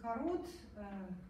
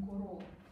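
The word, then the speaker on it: CoRoT: Но вот корот, Куро, иначе произносится, он европейский. Французский. Да, поэтому он Куро, а не корот.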